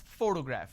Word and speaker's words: photograph: I pronounce this as photograph which means I'm stressing on the first syllable but when I look